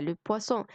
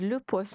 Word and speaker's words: poisson: الpoisson الأولى دي كلمة مؤنث تاخد la poisson، أمّا poisson السمك تاخد le poisson عشان مذكر، فنخلّي بالنا وما نغلطش ما بينهم، الب خفيفة مشروبات تاخد la، واللي ب تقيلة سمك تاخد الle.